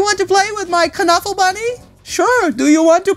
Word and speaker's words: Knuffle Bunny: There's Kuh-Nuffle Bunny 2, but there's also Kuh-Nuffle Bunny. And we didn't know that's how it's pronounced, so it's called Knuffle Bunny.